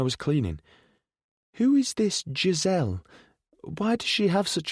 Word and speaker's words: Giselle: Now, tell me, who is Giselle? She pronounced the G like J in Jemima.